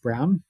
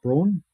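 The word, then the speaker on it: Braun: Um and yes that is it's pronounced Brown um not Brawn.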